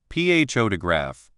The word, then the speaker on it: photograph: For example, in the word photograph, the loud part is on the first part, photograph.